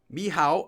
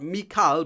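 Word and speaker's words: Michał: It's pronounced like Mihao. Oh, not Mikal, but Mihao. Mihal.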